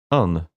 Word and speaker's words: an: past few months is how this word an Irish is pronounced in everyday speech. un Or is it just simply said as uh You most often see